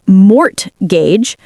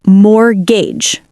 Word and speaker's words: mortgage: It looks like it should be pronounced mortgage, but the T is silent. So, we say more gauge.